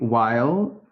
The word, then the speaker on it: Weil: Weil, rhymes with smile, as you've suggested.